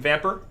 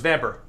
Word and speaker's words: Vampyr: Aside from that, I was also playing some Vamper. I refuse to pronounce that game as Vampire because Vampire.